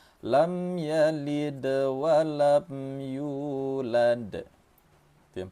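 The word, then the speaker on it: لم يلد: Pertama, jangan ditahan mim ini. Mim mati temu dengan ya, nama hukum tajwidnya izhar syafawi. Cara membacanya lam ya, lam ya. Jangan ditahan lam ya, jangan gitu. Tapi langsung saja.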